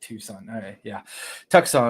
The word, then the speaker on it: Tucson: Yeah, no matter what you say, I feel like that's correctly pronounced phonetically because Tucson. Tucson.